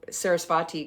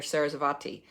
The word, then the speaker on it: Sarasvati: Her name is alternately spelled with either a V or a W, and it's very subtle. And for years I've been calling her Sarasvati, but it's I think it may be a very sort of W sort of V.